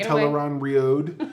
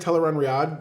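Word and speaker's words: Tel'aran'rhiod: the name drop of ton Rod uh I've thought I've always said ton Riad but it's ton rod and that's fine and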